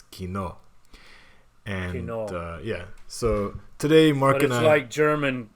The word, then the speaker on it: Kino: used to pronounce it Kino but I've been corrected so it's Kino yeah so today I like German it's like German Kino meaning movie theater yeah Cinema or cinema